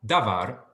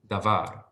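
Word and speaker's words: דבר: the top there um so the syllable da is not accented it does not receive the emphasis um var does receive the emphasis so it's not davar it's davar um right so the var sound gets the emphasis it's like in the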